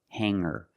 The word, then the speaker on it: hanger: When I change these words with eer, I don't pronounce the g sound. It's just the nasal linked together with the together. Hang hanger. There's no G sound. I cannot say hanger. I cannot say singer. It's hanger and singer.